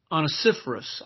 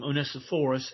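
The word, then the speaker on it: Onesiphorus: name of Vanessa force you might call him on a citrus I call him Anissa forest and either way that you want to pronounce that is correct according to what I've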